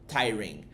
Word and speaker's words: tiring: Essa é a pronúncia. Você não pronuncia o G, você só fala tyrin tyring.